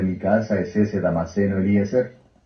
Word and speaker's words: Eliezer: Así es que se pronuncia en el hebreo, Eliezer.